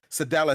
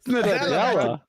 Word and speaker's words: Nadella: Sadella said. Sadella. When he said, Nadella.